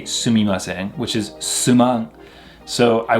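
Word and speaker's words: すみません: You could say sumimasen. Another way people will pronounce it is actually a way more slang way to say sumimasen, which is suman.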